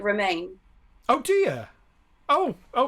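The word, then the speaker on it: Romijn: about someone else's rebecca ramjin yeah i think you say it like romaine oh do you oh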